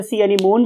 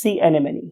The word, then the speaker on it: sea anemone: Right, बहुत से लोग इसे sea anemone भी कहते हैं. ये this is a wrong pronunciation. True pronunciation is sea anemone.